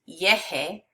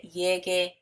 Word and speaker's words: llegue: the opposite ending, but you also have to add in a u to keep it as a hard G, because e, would create a soft sound, and this word would be pronounced yeje if you didn't have the u.